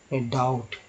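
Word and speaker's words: doubt: तो देखिए इसे डाउट पढ़ते हैं, डाउट नहीं, डाउट, यानी कि बी साइलेंट है यहाँ।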